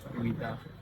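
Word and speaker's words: Ouidah: And instead of saying that, they say Wida. So Wida is the current name of the town.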